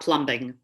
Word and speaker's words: plumbing: Just delete that B when you're talking. It's silent. We want to make sure you always spell it with the B, but when you pronounce it, the B is silent.